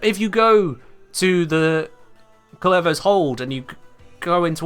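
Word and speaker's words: Kullervo: Why did I pronounce it so incorrectly? It's Kullevo. Ugh.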